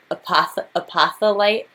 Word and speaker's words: apophyllite: So yes, I pronounce things wrong, but I just remembered it's not apophyllite. It's pronounced apophyllite.